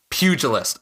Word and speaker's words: Pugilist: Pugilist. Okay, the J sound there. I wasn't sure how to tackle that G.